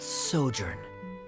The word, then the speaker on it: sojourn: is everything clear director's osimos how do you pronounce this word let me see ah that sojourn it means to stay for a while this